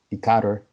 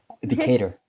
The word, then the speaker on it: Decatur: She's from Decatur, and did I say it right? Yeah, Okay, okay. Decatur.